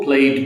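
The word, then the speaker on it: played: worked प्लेड प्लेड को प्लेड बोलेंगे और इ को हम लॉन्ग नहीं करेंगे प्लेड और वांटेड वनड वांटेड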